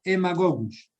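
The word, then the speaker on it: Haemagogus: En la zona selvática ya es otro mosquito, no es el Aedes aegypti, es el mosquito Haemococcus. Se escribe con H, Haemococcus, y se pronuncia Haemococcus.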